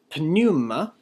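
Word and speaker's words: πνεῦμα: Kai, pneuma. Make sure to pronounce the P and the nu here.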